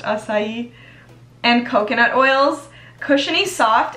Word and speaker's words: acai: delicious blend of koopa kupuaku i call it a kai but i know it's pronounced acai and coconut oils cushiony soft and super conditioning